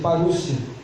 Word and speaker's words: parousia: que essa palavra vinda, ela é parousia, que se pronuncia parúcia.